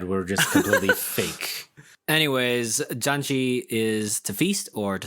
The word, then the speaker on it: Janchi: first we're talking about janji which i will clarify again is spelled j-a-n-c-h-i we are the janji